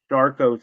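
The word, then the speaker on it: Charcot: was I had uh it's called sharco syndrome it's spelled c h a r c o t um I have advanced lupus which is autoimmune disease and what shco syndrome is is I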